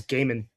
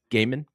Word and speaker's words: Gehman: I think it's Gaiman. Gaiman.